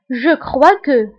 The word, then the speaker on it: crois: Je crois que. Je crois que. Je crois que. بالنسبة لـ je crois نكتبها بـs آخر الكلمة ولكن لا ننطقها نقول je crois que.